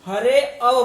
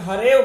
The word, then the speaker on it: हरेव: तो यह आप, लेकिन इसको कुछ लोग आकार समझ करके उच्चारण करते समय हरे अव बोलेंगे, लेकिन अब यहाँ पर अ नहीं है तो हम उच्चारण करते वक्त हरेव बोलेंगे, हरे अव नहीं पढ़ेंगे, इसको हरेव बोलेंगे।